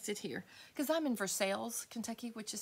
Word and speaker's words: Versailles: way they say it they don't say Versailles they say verseilles and it's like no it's at least say it like in France anyway it's funny okay